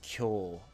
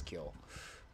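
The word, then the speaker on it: 峡: In this case, it's pronounced kyo. I'm not sure why they... deviated from the normal onyomi. Oh, no, it's because I wrote it down wrong. Yep, this is kyo.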